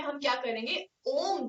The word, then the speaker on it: ओम: ओम chanting में हम क्या करेंगे, ओम, the symbol ओम is made by 3 syllables, अ, उ एंड म, अकार, उकार और मकार। मैक्सिमम स्ट्रेच दिया जाएगा मकार पे।